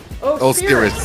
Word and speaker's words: Osiris: Too many S's, but close. Osiris? Just Osiris. Osiris. 3 syllables.